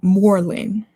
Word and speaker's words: Moreland: I'm not saying it with an accent. It's spelled Morlin, Moreland.